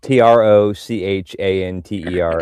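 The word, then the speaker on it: trochanter: T R O C H A N T E R. Like tro chanter if you you said it phonetically.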